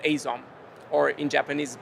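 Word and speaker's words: 藍染め: as Japan Japanese blue um is actually called asome or in Japanese pronounced aome uh which would be hard for others to pronounce.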